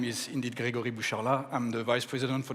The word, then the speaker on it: Grégory Boucharlat: so good afternoon everyone my name is indeed Gregory bushala I'm the vice president for the commercial business